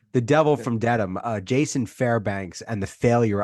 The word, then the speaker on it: Dedham: I want to ask about the Devil from Diem. Diem, is that how you say it? Dedham. I think it's Dedham.